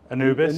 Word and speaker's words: Anubis: Since we last met, you've left Pinnacle and set up your own business, Anubis, is that the correct pronunciation? Anubis, Anubis yeah.